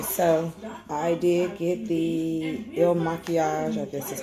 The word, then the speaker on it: Il Makiage: okay so i did get the ill machias this is how you pronounce it i went ahead and broke down